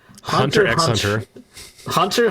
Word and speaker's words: Hunter x Hunter: The X is silent, by the way. Hunter x Hunter.